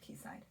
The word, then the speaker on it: Quayside: And it's called the K-side. But depending where you live, it could be pronounced Quayside.